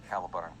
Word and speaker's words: Caliburn: Yet the way you say it sounds like bird. So you sure it's not a Cali bird? No, Caliburn. Cowbird. No, it's spelled like that. I know my accent kind of ruins it, but that's actually